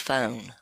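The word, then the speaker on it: φωνή: But it literally is, it's G5456, and it's pronounced phone in Greek.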